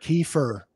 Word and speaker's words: Kiefer: say my own name the best spelling was k-e-y-f-u-r yep that's perfect key for it's phonetically correct right yeah yeah so